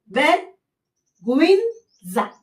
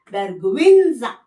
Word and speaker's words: vergüenza: अब इसका word pronunciation कैसे बनता है, vergüenza, vergüenza, बिकॉज ये वी का साउंड निकालना तो vergüenza.